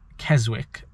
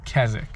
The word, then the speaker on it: Keswick: rather I was saying Keswick and I was saying Windrose and I should have been saying rhos like not pronouncing the W you don't pronounce the W so it's kazic now you think some